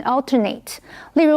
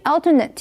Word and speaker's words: alternate: 从麻雀变凤凰这部电影开始，茱莉亚·罗伯兹灿烂的微笑就变成了她的注册商标。继续我们看的是 alternate 这个动词 alter 这个字根有其他的意思，所以 alternate 是指轮流或交替。注意它当动词的时候 N 后面的 A 发成长音的 A 念成 alternate。例如 My husband and I alternated driving as we traveled from Los Angeles to Denver. 我先生和我从洛杉矶到丹佛的时候是轮流开车的。注意 alternate 也可以当形容词，意思是指轮流的或间隔的。这个时候 N 后面的 A 就要变成的音，念成 alternate。例如 The patient